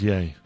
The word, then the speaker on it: Ye: up because of those Yeezy shoes when Kanye West or Ye or Yee? How do you say it? That was yay.